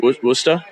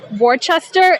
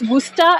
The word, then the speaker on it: Worcester: they taught you that booster booster booster for everyone listening at home it's the way it's spelled sounds like it should be pronounced Worchester it's not it's booster and don't call us